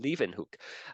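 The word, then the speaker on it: Leeuwenhoek: this uh Dutch uh scientist named Antony van Leen hook that's how you pronounce his name Leen hook um you know he wasn't actually a science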